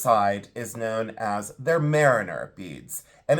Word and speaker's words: maireener: So it's not spelled like mariner, but it is pronounced like that.